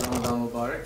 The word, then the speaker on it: Ramadan Mubarak: And may I say, yes, you both have pronounced it correctly, so it's Ramadan Mubarak.